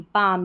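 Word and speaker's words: palm: Pond, beside it grew a tall, पालम नहीं, पाम, जैसे काम, पाम, ऐसे। यहाँ पर इसमें L साइलेंट है, ठीक है, दोनों में, काम और पाम में, दोनों में।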